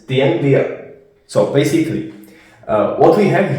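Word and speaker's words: tiếng Việt: And to pronounce it, it's Dien Via.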